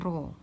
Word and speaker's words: rho: Atau ini dibaca dengan rho. Kita udah pernah belajar ya, udah pernah ketemu nih namanya, dibacanya rho.